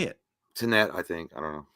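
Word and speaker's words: Tenet: And no, Tanae, is it Tanae or Tanette? Fuck, how do you say it? Tanette, I think.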